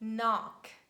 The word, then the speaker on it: knock: this combination rheumatic rhinoplasty letter k is very easy we never pronounce it in the combination k and at the beginning of words and we say knock knee neat night no knowledge knowledge when you know something and i hope that now you've got this knowledge and you won't read k again and letter l and